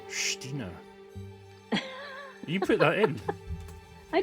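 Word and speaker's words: Xtina: German friend of mine who called me Stina. And I said, well, how do you spell that? And he said X-T-I-N-A. Oh, really? Stina.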